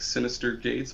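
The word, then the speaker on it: Synyster Gates: their names finally and their guitar was like Sinister Gates but it was spelled like Sy y n y s t yr or something like that I was like I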